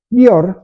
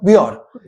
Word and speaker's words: Bior: ¿Pronuncié bien tu apellido? Bior. Bior. ¿Origen? Asturiano. Asturiano. A mí me sonaba parecido a Björk de... No, nada que ver.